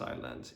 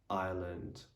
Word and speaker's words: island: silent as well um the letter s is normally not going to be pronounced when it comes just before the letter l say for example in the word island isle island and isle also there are some